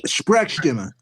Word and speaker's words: Sprechstimme: Sprechstimme.